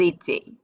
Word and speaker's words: étaient: And then this whole jumble cluster of vowels is pronounced A. All of that. So it's like the boot shape, they all sound the same. J'étais, tu étais, il était, ils étaient.